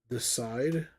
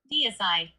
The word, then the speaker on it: Deicide: Deicide. Decide. Why am I saying Decide? It's not even.